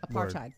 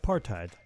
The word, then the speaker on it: apartheid: And I have to say, I had never seen the word that I mispronounced written down. What was that? Apartheid. Word? Apartheid.